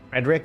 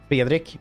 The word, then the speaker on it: Fredrik: Frederick always sounds weird because in Swedish, my name is actually pronounced Fredrik, which is, you know, something that people just aren't used to saying because not a lot of countries roll their R's.